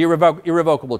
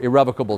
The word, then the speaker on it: irrevocable: check that out now the irrevocable trust or irrevocable trust you can pronounce them either way the question is do